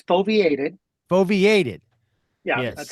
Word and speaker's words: foveated: It's foveated. Foveated. Yeah, yes. That's how you pronounce it. It's foveated. So foveation I had the emphasis on the wrong syllable.